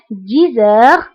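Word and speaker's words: dix heures: دائما انتبهوا للنطق 10 heures. هنا أيضا قمنا بلا liaison entre X et H.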